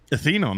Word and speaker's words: Athenon: Athenon. By the way, what a cool name. Is that how you say it? Athenon? Athenon, yeah. Athenon.